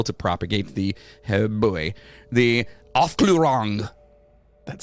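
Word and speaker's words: Aufklärung: of like-minded people to propagate the boy the off glorang that sounds so weird when you say it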